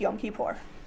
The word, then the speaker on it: Yom Kippur: And just one more time, can we pronounce it correctly? Yom Kippur. Yom Kippur. Yes, Yom Kippur.